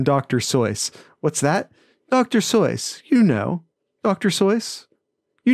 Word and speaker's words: Seuss: know it's not sushi it should rhyme with voice so it's it's actually dr soyuz now i know that